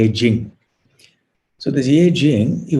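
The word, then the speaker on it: I-tsing: they they call it i sing e-t-s-i-n-g but i think it's pronounced jing so the jie jing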